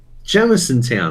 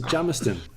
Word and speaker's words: Jamisontown: It's Jamiston. Is it pronounced Jamison Town? Jamison Town. Jamiston. Listen, it's not town. Jamiston. It says town on the fucking end.